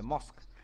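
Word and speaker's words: mosque: অফ মসজিদ করে দাও মসজিদ বা মস্ক যা করবে উচ্চারণটা মস্ক হবে মস্ক আচ্ছা ইউ উইল বি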